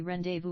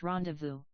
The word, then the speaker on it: rendezvous: Dreamily, so we rendezvous, rhyming with booze. Gladys, if you spent more time on your French, and less time staring at peplums, you'd know it's pronounced rendezvous.